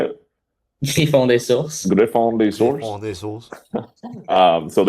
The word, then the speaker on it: Griffon des Sources: Griffin de Source. Yeah. How do you say it? Griffon des Sources.